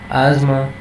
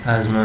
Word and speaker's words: asthma: insomnia and we have asthma here the th are silent and asthma means the kind of